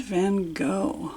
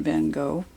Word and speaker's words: van Gogh: Okay, Vincent van Gogh, or Van Gogh as it's pronounced in Dutch.